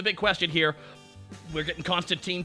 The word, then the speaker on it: Constantine: Constantine is actually the proper way to pronounce it, and he says so in the comics. Constantine rhymes with wine, and all the British creators are like, it's pronounced Constantine.